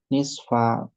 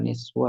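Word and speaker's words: نصفَ: Dibacanya tetap ya nisfa bukan nisfu atau nisfi. Ini baca nisfa karena apa? Posisinya adalah posisi si dhorof.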